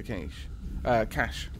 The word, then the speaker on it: cache: Got an alien data cache. Cache? Oh, the E is silent.